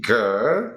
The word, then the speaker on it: girl: even you're gonna be trying to say E girl. Yes. That'll be. Don't forget to round your lips just a bit. Oh, so girl. it gives like a Girl. deeper sound and not girl, but girl.